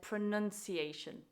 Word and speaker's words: pronunciation: pronunciation and not pronunciation in spite of the verb being to pronounce this word is said pronunciation pronunciation your turn Okay